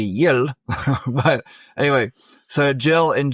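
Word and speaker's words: Jyl: Uh Jill, and that's spelled W or J Y L. And if she was Hispanic, it'd be Yel.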